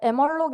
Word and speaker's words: malloc: 이제 emalloc 이라는 함수를 사용합니다. 이제 뭐 멀록이라고도 읽는다고 하는데 제가 1학년 때 교수님이 멀록이라고 읽지 말라고 해서 여러분들 emalloc이라고 기억해 두세요.